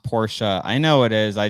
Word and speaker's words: Porsche: Tyler said it's pronounced Porsche.